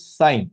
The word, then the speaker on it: sin: In short, it is written as sin, sine. How do you pronounce it? It's sine, okay? You pronounce it as sine.